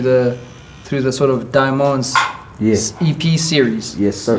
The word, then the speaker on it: Die Mondez: and the music yes and the diamonds being uh uh like a an indication of how to say my name yeah i was like